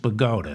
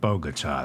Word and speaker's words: Bogota: And it's pronounced Bogota, not Bogota.